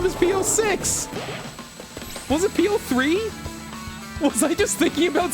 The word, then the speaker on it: P06: his name is supposed to be said like Po you let me go on hours of stream of inscription calling him P6 and now you're telling me it's pronounced PO